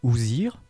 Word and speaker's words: Ousir: la divinité assise barbu son nom se lit ousir et il signifierait le